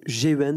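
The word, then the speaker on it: Geuens: Anatomie du capitalisme des marchés financiers entre guillemets à l'oligarchie, d'un gars dont le nom est difficile à prononcer, c'est Geurens, ça se dit, ou Geurens, G-E-U-E-N-S, c'est un Belge qui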